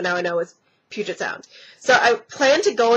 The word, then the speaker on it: Puget Sound: right by downtown Seattle it's called Puget Sound for the for like a long time I called it Puget Sound because I had no idea and my friends made fun of me because I couldn't pronounce it properly so like for a good three four days they made fun of me because I couldn't pronounce it right but it's Puget Sound thank you to um